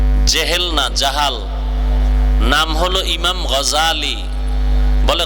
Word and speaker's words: غزالی: بولا ابو جہل جہل جہال نام হলো امام غزالی بولے غزالی نہ غزالی বিশুদ্ধ উচ্চারণ غزالی আর اللہ যদি কবুল করে